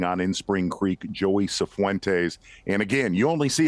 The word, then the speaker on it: Cifuentes: Asked me to say it to him, and Joey Cifuentes, and he said, no, that is not how you say it. It is Cifuentes, not Cifuentes.